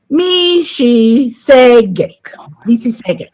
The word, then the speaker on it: Mississauga: And I know I failed a bit on that pronunciation, so I'll try it again. Mississauga.